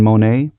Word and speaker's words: Monaet: Is it Brian Monaet? Yep, that's exactly right.